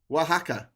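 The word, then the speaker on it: Oaxaca: It's uh Waka. Wajaka. Okay, it's pronounced Wajaka.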